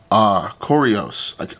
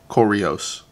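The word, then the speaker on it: Correos: But since we looked up in the Dominican Republic last time, the way that I remember how to pronounce this is like Oreo, like the cookie, Koreos.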